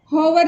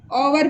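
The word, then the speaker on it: hour: होवर नहीं पढ़ के ओवर पढ़ेंगे, जबकि ये कॉन्सोनेंट से स्टार्ट हो रहा है लेकिन इसका उच्चारण इंग्लिश में ओवर होगा। एच से शुरू हो रहा है लेकिन फिर भी इसका उच्चारण ओवर होगा, इसको होवर नहीं पढ़ेंगे,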